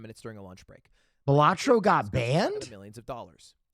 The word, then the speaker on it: Balatro: Balatro. Okay, sorry. That's how you say it. Now, if you don't know what Balatro is, I'll let Northern Lion explain it. I've been calling it Balatro.